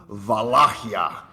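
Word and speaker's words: Valahia: is we uh well the original Romanian pronunciation is vakia oh vakia I've got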